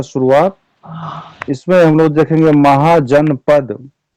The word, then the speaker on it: महाजनपद: होते थे ठीक है महाजनपद इसको अंग्रेजी में लोग उच्चारण करेगा महाजन पदास बट नो in Hindi it is pronounce महाजन पद वी आर इंडियन व